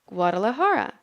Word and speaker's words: Guadalajara: to say the word gua de la ha ha Guadalajara Guadalajara holds a yearly